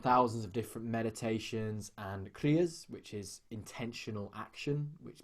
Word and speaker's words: kriya: There's a kriya for everything, and you'll find ones for depression, for for anxiety, for releasing fear, for sadness.